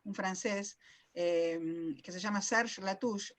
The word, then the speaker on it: Latouche: que se llama serge latouche la touch es se escribe el apellido search como sergio en francés serge latouche y el habla lo